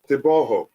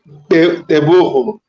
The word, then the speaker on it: Teboho: Tiboho. I'm good, thanks. How are you? Fine, thank you, bro. I can't complain. Did I pronounce it correctly? Tiboho. Teboho, but it's much better now.